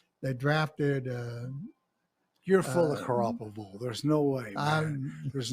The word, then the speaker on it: Garoppolo: I think that they're going to end up, they got, I can't pronounce the name, the quarterback's name. Garoppolo, yeah. Garoppolo.